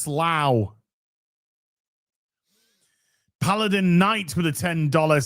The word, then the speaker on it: Slough: Now say Slough. Slough. It's pronounced Slough.